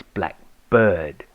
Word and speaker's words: Blkbrd: To retain the correspondence with our parent company, we concluded the name Blkbrd Shoemaker, and it is pronounced same way as Blackbird.